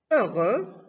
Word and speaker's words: heureux: Exemple, heureux. Donc, la lettre muette X est la lettre muette.